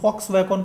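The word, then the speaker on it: Volkswagen: और ये स्टार्टअप किसके द्वारा, जो फॉक्सवैगन, इसको फॉक्सवैगन प्रोनाउंसिएट करते हैं, जर्मन की जो कंपनी है ना, कार मैन्युफैक्चरिंग, भारत में इसका प्लांट भी है।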